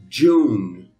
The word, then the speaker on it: June: June. Só me dá um ezinho pequenininho no final, mas quase que não pronuncia ele.